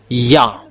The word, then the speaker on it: Yah: It's yod and hey it's called yah. That's why when we are uh come back to the original how to read yod and hey it's yah.